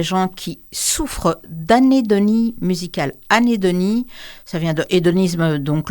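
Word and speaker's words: anhédonie: Ouais, ça sera anédonie.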